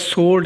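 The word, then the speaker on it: sword: और आगे हमारे पास सोल्ड है जो जो तलवार को कहते हैं उसमें डब्ल्यू साइलेंट है।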